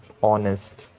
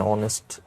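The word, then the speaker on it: honest: एक बात नोट करना मैं साउंड की बात कर रहा हूं मैं स्पेलिंग की बात नहीं कर रहा नेस्ट में अ साउंड है इसलिए एन आएगा आवर में भी अ साउंड है तो एन आएगा एन ऑनेस्ट एन आवर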